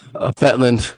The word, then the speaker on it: Fjetland: Fjetland, the J is silent.